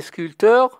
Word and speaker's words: sculpteur: peignent des tableaux les sculpteurs sculpte destin qu on pierre attention sculpteur le pays ne se prononcent pas donc 10h30 visite de